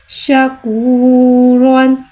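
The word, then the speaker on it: شَكُورًا: 2 ज़बर है, लिहाजा यहाँ रॉ को मोटा अदा करके पढ़ेंगे और अलिफ को साइलेंट कर देंगे, यानी कि अलिफ को नहीं पढ़ेंगे।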